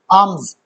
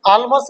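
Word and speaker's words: alms: वैसे तो आर्म्स ऐसे होगा, बट हम इसको बोलेंगे क्या, जो प्रोनाउंसिएशन होता है वो, आर्म्स, आर्म्स, ठीक है ना। आलमस मत बोलना इसको, आलमस मत बोलना, ठीक है।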